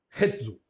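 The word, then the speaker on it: ἕζω: E o verbo tem o acento na primeira sílaba. Rezo.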